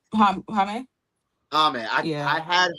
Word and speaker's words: Jaime: Jaime. Hami. Hame? Hami. Yeah. I had Hami at first, and then I was going back